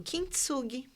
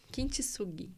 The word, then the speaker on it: Kintsugi: Como que pronuncia isso? Kintsugi. Kintsugi.